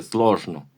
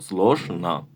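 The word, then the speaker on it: сложно: esa na del final se escribe slosno, pero no se dice slosno, sino slosna.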